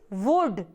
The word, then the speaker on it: would: WOULD, इट इज़ वुड, इट इज़ वुड। इसमें L silent है। कुड और वुड में L साइलेंट होता है।